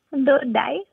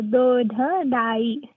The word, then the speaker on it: Dodai: So it's difficult because in English there is only one letter D, but in Gujarati there is four ways to pronounce the letter D. Uh-huh. And this one uses three of them. So Dodai. That's three different D letters.